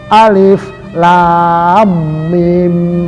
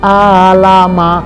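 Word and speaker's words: الم: dia sudah belajar itu bacanya Yasin bukan Yasa bukan Alif Lam Mim begitu Jangan dibaca Alama salah Nah itulah dia ah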